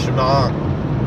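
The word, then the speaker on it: שמע: pasach, like the word shema, the pronunciation of the ayin comes after the vowel, not before the vowel. So it's shema, shemang, shema.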